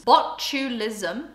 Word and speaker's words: botulism: let's actually look up on botulism actually means botulism is how it's pronounced before anyone tries to correct me um